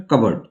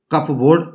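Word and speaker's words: cupboard: अलमीरा, हिंदी इंग्लिश में कबर्ड। कप बोर्ड कतई नहीं पढ़ना इसे, कबर्ड, जैसे मैं पढ़ रहा हूं ध्यान से देखिए, कबर्ड, उच्चारण जैसा मैं करूंगा वैसे आपको करना है।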